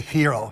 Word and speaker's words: gyro: Is it Gyro? We call Euro, but I think technically they would say hero.